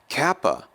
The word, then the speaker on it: kappa: Kappa is going to be pronounced like the English K, as in kraken, kraken.